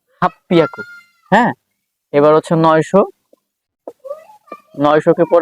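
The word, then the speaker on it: はっぴゃく: আমি কিন্তু ছোট চু দিয়ে কিন্তু ডাবল পি উচ্চারণ করলাম হাফ পিয়া পি এরপর হচ্ছে ইয়া এবার হচ্ছে কু হাফ পিয়াকু হ্যাঁ এবার হচ্ছে 900 900 কে পরে কিউ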